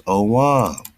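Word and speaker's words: Ogham: Ogam, tree, alphabet, kind of like them dragon claws, dragon languages, pronounce Owam, right? Ogam is pronounced Owam.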